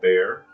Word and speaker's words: BEAH: the actual book here it's called bear um you'll notice that it's not exactly spelled the same as bear would normally be but there's a